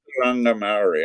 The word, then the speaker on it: Mātauranga Māori: Um, Mātauranga Māori. There you go. Mātauranga Maori. I'm trying to learn to pronounce these words, but I don't have any Maori in Yeah, Chicago that's right.